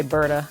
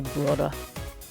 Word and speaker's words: Burda: I took German in college, so I like to try to pronounce German words with a German accent. So we say Berta. I think they say Burda.